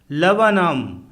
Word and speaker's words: laburnum: LABURNUM लवनम अर्थात अमलतास का पेड़, इसमें 2 बार U फॉर अम्ब्रेला आया है तथा R फॉर रैट साइलेंट है।